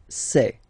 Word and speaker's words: sait: Il sait, final T not pronounced. Elle sait.